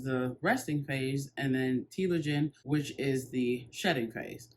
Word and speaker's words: telogen: it up and it's saying that it is pronounced telogen so before i get into that let me